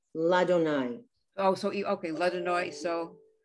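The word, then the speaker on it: לַאדֹנָי: You're not supposed to pronounce the two yuds. It's Adonai. So just, if it were written out as Adonai with an aleph and a dalet. So it's just Ladonai.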